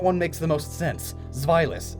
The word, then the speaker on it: Zweilous: Zweilous, it's German.